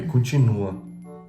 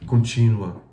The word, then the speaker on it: continua: O correto é continua. Continua. É correto, mas eu falava contínua, né?